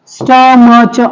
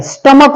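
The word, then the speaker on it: stomach: बघितला आता पुढचा आहे स्टमक स्टमच बघा स्पेलिंग काय एसटीओ एम एच स्टमच much स्टमच लिहिताना आणि मच स्पेलिंग वेगळा आहे उच्चार वेगळा आहे स्टमक उच्चार स्टमक क करताना पण इथ सी एच वापरलेला आहे हे विसरायचं नाही स्टमक ठीक आहे स्पेलिंगच चुकत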